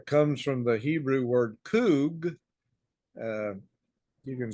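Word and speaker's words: חוג: the English language but it's pronounced coog and that Hebrew word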